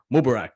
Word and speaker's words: Mubarak: with Danny broadhurst and Factory Mubarak did I pronounce that right yes sir okay and me and